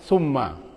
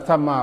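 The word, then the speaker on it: ثم: Salah satunya dibacanya summa, sebenarnya sama. Wa idza ra'aita thamma ra'aita mulkan kabir.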